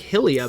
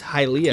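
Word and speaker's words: Hylia: go to to investigate halia wait you say hilia did I did I just say that yeah you said like hilia but I'm pretty sure it's halia yeah because it's high Rule and Hyrule yeah okay cool what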